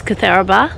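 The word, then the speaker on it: Cootharaba: Kutharaba is Kutharaba.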